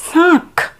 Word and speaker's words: শাঁখ: এর পরের যে শব্দ আছে দেখো তালাবসয়ে চন্দ্রবিন্দু আকার খ, উচ্চারণটা হবে শাঁখ, শাঁখ। শয়ের উচ্চারণ নাসিক্য, শাঁখ, ঠিক আছে?